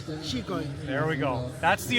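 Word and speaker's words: Xicoy: Is it Zykoi or Chikoi? Now in Catalan, it's a Catalan word, is Chikoi.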